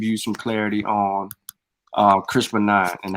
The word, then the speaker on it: CRISPR: so all right now the popular usage crispr pronounced crispr is shortened for crispr